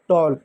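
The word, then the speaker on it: tall: जाएगा व तो मतलब ए के बाद अगर कभी भी डबल एल आए तो ए का उच्चारण औ के रूप में करेंगे।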